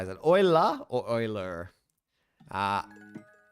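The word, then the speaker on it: Euler: How do you say oiler? Google how to pronounce.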